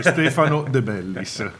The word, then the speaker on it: Stefano De Bellis: è Gaggo Fiorillo pronunciato da me. No, il mio è più semplice, Stefano De Bellis.